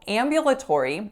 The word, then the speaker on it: ambulatory: they're not wheelchair-bound so ambulatory has five syllables the first syllable is a nasalized ass sound because of that and after it so it's am the second syllable is yeah yeah so the yeah schwa ambien ambien then we have la so another schwa then we have tor and then we have re with a tense e at the end what's my strongest syllable when I say ambulatory is the first right so you could